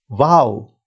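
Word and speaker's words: واو: When it is written at the start of a syllable, it is a consonant giving w sound. Now this w sound, it's very similar to the sound in vote and a bit similar to w sound in wine, right?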